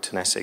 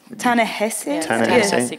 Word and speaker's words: Ta-Nehisi: written by an author, a wonderful writer called Tennessee Coates. And I'm probably pronouncing his name wrong, is that right? Not a bad attempt. Ta-Nehisi?